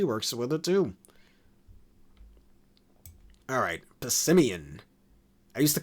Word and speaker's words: Passimian: Alright, Passimian. I used to call it Passimane back in 2016, which obviously that's not how it's supposed to be pronounced. Like Simian, the type of monkey.